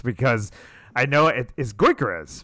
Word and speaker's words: Gyökeres: Eze, and then the guy whose name I can never remember how to pronounce because I know it is Gyökeres, right?